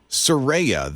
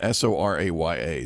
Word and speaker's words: Soraya: your kids like uh Soraya that is Scott's daughter did I even say it right you got it impressed because it does get mispronounced quite a bit s-o-r-a-y-a Soraya I would never